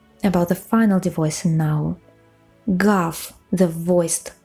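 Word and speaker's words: гав: Can you hear me pronouncing it a little bit differently, not gav, but gaf? It's because of the final devoicing.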